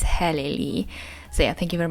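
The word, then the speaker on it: Helen Lee: life with rice by Hailey Lee Hi here's editing Julia with a very important message that of course I mispronounced the name of the author it's not highly It's heleni So yeah thank you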